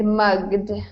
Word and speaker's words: mugged: Okay, so first of all, Sergio, it's mugged with a hard G sound.